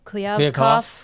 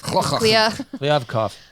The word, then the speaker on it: Kliavkoff: Kliavkoff. Kliavkoff.